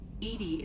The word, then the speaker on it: EDI: are you named edie edie is the phonetic pronunciation of edi that is an acronym